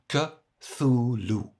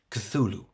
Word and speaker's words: Cthulhu: Now, to chop this up, Cthulhu is pronounced Cthulhu. The th like the English th. If it's too hard, just make it quiet, not too much t, not Cthulhu, but Cthulhu.